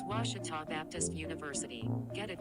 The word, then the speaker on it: Ouachita: university back in texas everybody pronounces it wichita but really it's ouachita washington washington how would you pronounce it it's washita baptist university get it right it's watertall people it's washita washita welcome back to